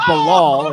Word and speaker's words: Bilal: Fun fact about Bilal Muhammad, it's not Bilal, it is Bilal.